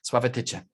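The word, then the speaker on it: Sławatycze: Sławotyce.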